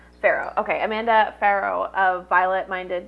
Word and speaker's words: Farough: Is it Farough? Is that how you say it? Yeah, it's Farough. Farough.